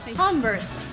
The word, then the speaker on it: Converse: weird at converse yeah that's more of an emphasis on the CEO of the CEO and in the last part of it converse this is by the